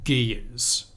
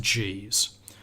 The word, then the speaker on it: Ge'ez: It was only used in one localized area, and it's called the Ge'ez. I'm not sure how you pronounce it. I think it's actually pronounced G's.